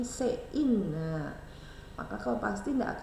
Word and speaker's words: cin: kenal ada namanya Cin cuman bacanya bukan Cin tapi se in Nah maka Kau pasti